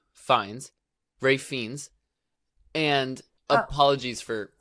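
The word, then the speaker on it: Fiennes: but also because Ralph I don't know how to say his last name terrifies me because of the menu like he's in my nightmares it's it's Rafe fines Ray fiends and apologies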